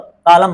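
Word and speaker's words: column: कॉलम बोलते हैं। सी ओ एल यू एम एन। भाई ध्यान से देखिएगा स्पेलिंग इसकी। एन भी लग जाता है पता नहीं क्यों आके।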